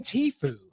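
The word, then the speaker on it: Tfue: did T Dash Fu it's t f u e sounds like when you sneeze thank you hey I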